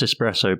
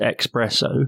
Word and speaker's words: espresso: is he does mispronounce espresso but not in the way you might think where some people mispronounce it as expresso which is quite infuriating enough uh he actually mispronounces